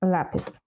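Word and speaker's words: lápiz: олівець як буде олівець on lapes правильно Знаєте тут не забуваємо наголос далі що це це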